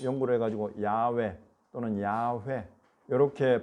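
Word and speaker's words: 야훼: 야외 하나님 요렇게도 왜냐하면 할렐루야 할 때 여호와를 찬양할 때 야가 있잖아요 그래서 이에 첫 요건은 야로 발음 될 것이다 라고 본 거예요 야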